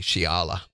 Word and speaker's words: Shala: lawence County that's right Sheila even though you pronounced your name wrong it's actually Shala Oh I thought you